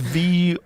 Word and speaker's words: Voronezh: It's Voronezh.